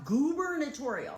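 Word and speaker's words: gubernatorial: I don't care that they spell it with a U instead of two O's. The word is pronounced goober notorial.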